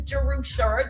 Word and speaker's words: Jerusha: And so, if you don't know, my name is Jerusha. That's how you pronounce it.